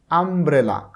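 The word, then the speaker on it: umbrella: এখানে আমব্রেলা, আমব্রেলা উচ্চারণ প্রথমে কিন্তু ইউ আসতেছে না, যদিও ওয়ার্ডের শুরুতে ইউ রয়েছে কিন্তু উচ্চারণটা ইউ আসতেছে না, আসতেছে আম, আম।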